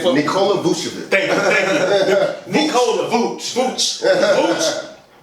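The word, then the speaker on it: Vučević: Nikola Vucevic.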